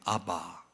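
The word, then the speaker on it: אבא: 아빠라고 하는이 단어는 유대적 표현입니다 그래서 원어는 아바입니다 아바 아바 유대인들은 하나님을 아라고 부릅니다 근데 헬라 사람들은 파르텔이라는 단어를 팔라고 발음하기도 하는 파르테 이렇게 부릅니다 아버지라는 뜻입니다 그니까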